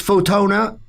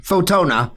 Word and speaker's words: Fotona: And how much does this Photona, named after Photona, so it's Photona, is pronounced? Correct. Photona.